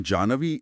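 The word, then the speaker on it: जाह्नवी: इसका सही उच्चारण जानवी इसलिए है क्योंकि पौराणिक कथाओं के अनुसार झु ऋषि ने एक बार क्रोध में आकर पूरी गंगा को पी लिया था।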